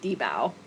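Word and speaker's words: dibao: pronounce uh sorry uh so in Chinese it's so short it's an acronym kind of for for this minimum livelihood guarantee but I think the angiz pronunciation would just be debau okay and tell tell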